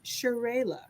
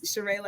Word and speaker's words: Cherayla: It's Cherayla, like with a ray of sunshine. Yes, Cherayla.